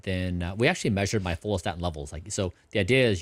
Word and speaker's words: follistatin: And is that follistatin?